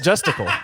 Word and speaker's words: Justicle: It's like testicle, but Justicle.